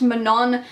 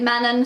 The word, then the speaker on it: Manon: I found out that her name's meant to be pronounced Manon, but I can't stop saying it Manon, so I'm kind of stuck with it.